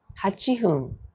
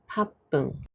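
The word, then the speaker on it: 八分: How do you say 8 minutes? A happun B hachifun C hachibun The answer is A happun Last question.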